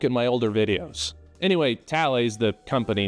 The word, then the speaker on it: Thales: For some reason, the company name is pronounced Tales, but the human's name is pronounced Thales.